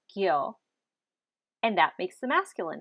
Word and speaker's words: kyo: at the word part kyo k i o pronounced gyo and that makes the